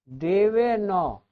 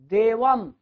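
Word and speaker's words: देवम्: से द्वारा देव नौ बहुत लोग इसको देवन पढ़ते हैं देवन लड़कों की बात छोड़िए बढ़के भी देवन नहीं अ है इसमें देवम थोड़ा म का उच्चारण करते हैं क्योंकि उसमें अ नहीं है हलंत है हलंत कर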